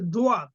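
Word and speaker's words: ضاد: হয় সোয়াদ মুখটা গোল হয়ে যাবে তারপর আছে দোয়া জিহ্বার গোড়া যেকোনো একদিকে কিনার উপরে মাড়ির দাঁতের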